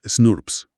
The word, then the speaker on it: snRNP: Se pronuncia snurps.